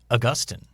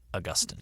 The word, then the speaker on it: Augustine: St. Augustine is how it's pronounced, correct? Yeah. And if you talk to most experts or theologians or church historians, they will probably tell you it should be pronounced Augustine.